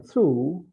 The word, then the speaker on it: through: In though, o u g h gives the sound o, but in through, same letters give the sound oo.